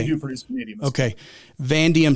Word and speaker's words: vanadium: How do you pronounce that one again? I never heard of that one. Yeah, it's vanadium.